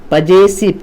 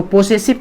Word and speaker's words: possessive: और तीसरा वाला जो है बच्चे, इसको पजेसिव केस, पजेसिव, POSSESSIVE, पजे, इसको पोसेसिव कभी मत बोलना बच्चे, ठीक है ना।